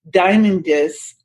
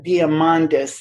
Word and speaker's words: Diamandis: coach Lisa savage and Peter diamond disc founder of The X Prize that is Peter Diamandis as I believe that's the way I should have pronounced that Linda's passion is